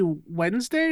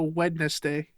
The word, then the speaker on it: Wednesday: Do you say Do you say Wednesday or do you go wedness day? No one says weddness day.